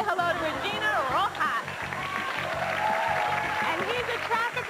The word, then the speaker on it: Regina: to say hello Regina it is Regina it's pronounced Regina yes it is you were voted most likely